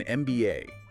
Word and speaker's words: MBA: It's an MBA, because the letter M is pronounced M, which starts with the vowel sound.